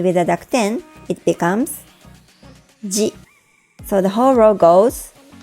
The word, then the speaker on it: ぢ: Notice that chi with a dakuten is pronounced just like ji in the row above. Likewise, tsu with a dakuten is pronounced the same as zu.Let's read the row together. Da, ji, zu, de, do.